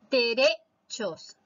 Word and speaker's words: derechos: Derechos. La mayor fuerza de voz está en la sílaba re, es decir, en la penúltima.